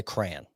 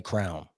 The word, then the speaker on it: crayon: So I say crayon. Crayon. Okay. I don't say crown.